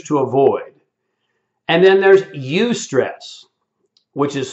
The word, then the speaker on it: eustress: that we choose to avoid and then there's eustress which is spelled e-u-s-t-r-e-s-s and what he said is that